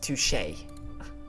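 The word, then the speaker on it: touché: say something I didn't want to touch it's pronounced touche whatever fancy pants can I ask my actual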